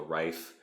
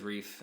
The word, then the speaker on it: Ryph: what they call the Rife, or the Reef, or whatever it is. It's RYPH is how it's spelled. I think he says Reef in the audio.